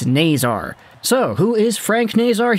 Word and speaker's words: Nazar: there and say it it's not nazaire it's not nazar it's naysar so who is frank